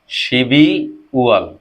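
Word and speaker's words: 십이월: তাহলে এখানে আমরা কিভাবে উচ্চারণটা কোরিয়ানে শিবি ওয়াল, তাহলে আমাদের কি হয়ে গেল এটি কমপ্লিট হয়ে গেল।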